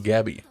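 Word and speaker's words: Gabi: by emir raising gabby i mean they call her guppy yabby which is more like the german pronunciation for that name i mean she was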